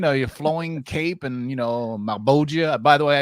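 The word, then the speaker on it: Malebolgia: By the way, I didn't know how to say Malboja, and for the longest time until the Spawn like animated series came out. Remember Malboja, that character? Who's played That's how you say it.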